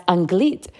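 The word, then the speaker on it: אנגלית: want to teach you how to say the word English in Hebrew and that's anglit so I was like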